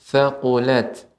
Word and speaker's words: thaqulat: Ya, Ibu, ta sukun kita dapatkan di sini thaqulat. Maka sifat ta ketika dia sukun mengeluarkan aliran udara.